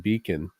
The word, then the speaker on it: Bacon: And there other research, and I believe Peter Dawkins at one point wrote about how the name Bacon would have been pronounced almost like beacon and spelled as beacon, which is a light, right?